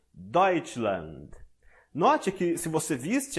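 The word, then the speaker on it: Deutschland: significa alemanha e abaixo colocarei o guia de pronúncia temos doit land note que se você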